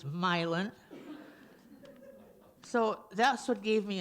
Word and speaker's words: Milan: poems Bellingham Marietta milin you might think that should be pronounced Milan but it's milin so that's what gave